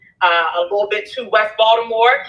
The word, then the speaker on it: Baltimore: You from Baltimore? Let me say it right. Baltimore. That's what they say, two and do.